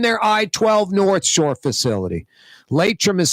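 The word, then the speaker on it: Laitram: Latrim is spelled L-A-I-T-R-A-M.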